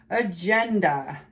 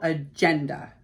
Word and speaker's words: agenda: Agenda. It's a noun. It's always a noun. The stress is on the second syllable, agenda, agenda.